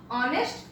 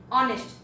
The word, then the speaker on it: honest: Then first of all we pronounce, such as honest. So we can never say honest because in this pronunciation h is silent.